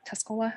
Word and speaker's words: Tuscola: the apple and it also um removes tusco Tuscola Tuscola is that how you say it County um